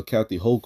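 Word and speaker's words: Hochul: um the new process all right because Governor h hok all right last her name is pronounced Governor uh Kathy hok all right has has written off has signed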